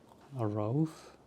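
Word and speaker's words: الرؤوف: Ar Rauf means the most kind. And the second waw, some people leave out. It's not actually pronounced. It's actually pronounced u because of hamza on top.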